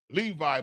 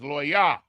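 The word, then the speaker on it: לוי: and la Levi is the way that the u the English translated it Levi but it's Lyah because of course they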